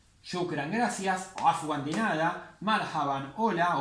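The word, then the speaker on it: مرحبا: Otra palabra que vimos también era marhaban. Marhaban. Este alif no se pronuncia. Marhaban. También se puede decir marhaba, pero eso es una deformación del idioma.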